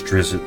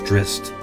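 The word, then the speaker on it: Drizzt: I used to pronounce him as Drizz, but it's Drist.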